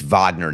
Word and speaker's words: Wagner: It's Vagner, not Wagner.